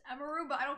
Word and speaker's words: Emiru: people say yeah well people call me Emmy but it's emu but I don't call people call I don't want if people call me emiru oh like it's just